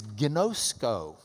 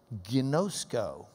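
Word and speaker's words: γινώσκω: The Greek word for know is gnosko. In fact, look at how it's spelled.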